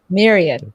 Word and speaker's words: Myriade: I don't know if I'm pronouncing it right. Myriade. Myriade.